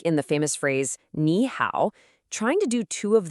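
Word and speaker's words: 你好: The first third tone automatically changes into a rising second tone. So, even though it's written with two third tones, it's always always pronounced as nihow.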